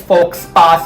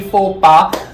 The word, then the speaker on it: faux pas: four pass on this excel sheet it's not pronounced as folks pass or anything simply for pa i was so stressed that i committed a